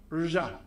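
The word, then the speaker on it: Dvořák: Now, if you're an ordinary English speaker and you don't want to go around saying r, just say r plus j. So, r, Dvorak. Dvorak. Dvorak.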